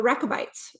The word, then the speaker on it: Rechabites: The Rechabites.